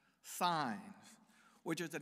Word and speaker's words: Saenz: it no okay but the pronunciation of our Bishop name is signs which makes for a